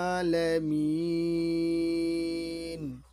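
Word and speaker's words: الْعَالَمِينَ: আমাদেরকে বলতে হবে আলহামদু লিল্লাহি রব্বিল আলামিন অর্থাৎ এখানে আইনের উপর এক দাগ রয়েছে এক আলিফ টানতে হবে এখানে তিন আলিফ পরিমাণ টানে পড়তে হবে তাহলে আরেকবার দেখি আলহামদুলিল্লাহি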